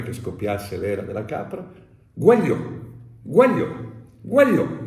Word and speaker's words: uagliò: sono sgardi Mi disse non si dice Guaglio si dice Guaglio Guaglio Guaglio Guaglio togliere la G ha significato diventare napoletano quello è stato il